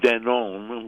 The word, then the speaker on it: Danone: it was in fact founded as then owned with an e at the end French pronunciation except that it wasn't French it was Ladino because the founder Isaac